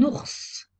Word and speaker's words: ours: Un ours, on prononce le S final.